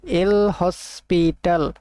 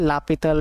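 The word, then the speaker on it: L'Hôpital: এল হসপিটাল এল হসপিটাল rule. অনেকে এটাকে বলা হয় লাপিতাল রুল। লাওপিতার রুল। অনেকে অনেকভাবে উচ্চারণ করে এল হসপিটাল রুল বলতে পারো আমরা যেহেতু এটা শিখছি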